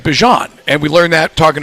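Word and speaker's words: Bijan: And now he has that it's it's Bjan Robinson, but his mother pronounced it Bjon and we learned that talking to Bjon last year.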